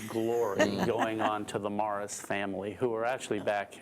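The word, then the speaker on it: Maras: was moris m a r a s but pronounced Mars and um there were different theories on why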